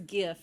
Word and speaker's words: GIF: let's just declare it it's gif it's not jeff tell us in the